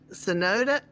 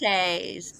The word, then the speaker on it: cenotes: Well, you had said that you dove in the is it cenoda? Tell me how they pronounce cenotes.